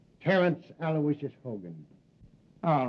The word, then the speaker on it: Aloysius: Terence Aloysius Hogan. All right, Hogan. You're not a bad guy. I guess you deserve a break. Yeah, spell that middle name right. It's A-L-O-Y-S-I-U-S, Aloysius.